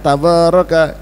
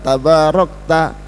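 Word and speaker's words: تباركت: Yang banyak tabaraka, tabaraka. Yang benar tabarakta wa ta'alaita ya dzal jalali. Yang orang-orang terjang bacanya tabaraka wa ta'alaika. Enggak benar.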